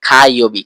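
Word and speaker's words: かようび: কা এটা কিন্তু এইযে কাইবি এটা জাপানিজ ভাষায় উচ্চারণ অনেকটা খা মত হয় খা ইবি খাইবি এখন কাইবি মানে হচ্ছে মঙ্গলবার তাহলে তুই বেশি করে খাবার খাবার খা তাহলে তোর মঙ্গল হবে।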